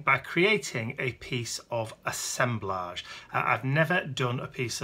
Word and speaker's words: assemblage: it's referred to as assemblage and not assemblage because it has its roots in collage so that's why we pronounce it with that bit at the end rather than the edge if you like so